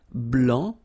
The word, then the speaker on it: blanc: form here okay so here masculine BL don't pronounce the final C and then blanch